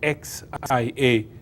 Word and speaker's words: Xia: There was another dynasty before that, which is referred to as the Xia dynasty, the XIA, that's how it's spelled, XIA, the Xia dynasty.